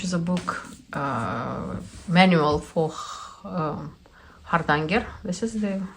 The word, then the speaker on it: Hardanger: And also in the same purchase, I also added such a book, which is a book manual for Hardanger.